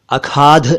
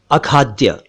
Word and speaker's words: अखाद्य: इसी से एक शब्द बना है अखाद्य, यानी जो खाए जाने योग्य ना हो। अखाद्य, अखाद्य, अखाद्य नहीं, अखाद्य। और एक शब्द है खाद्यान्न।